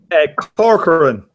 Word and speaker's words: Corcoran: How do you pronounce it, Iris? Corcoran.